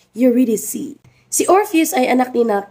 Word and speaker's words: Eurydice: kanyang asawa na si idic and Yes it's pronounced idic si orpheus ay anak nina cope na Akala